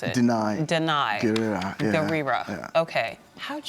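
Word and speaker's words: Danai Gurira: How do you pronounce it? Denai. Guerrera.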